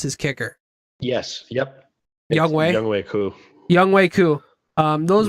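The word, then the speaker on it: Younghoe Koo: young way or how do how do you pronounce his kicker yes yep young way cou young way cou um those were Alex's three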